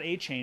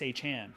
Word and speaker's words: Achan: Yeah, he came out and he said, "Don't say it's not A-Chain, it's Achan."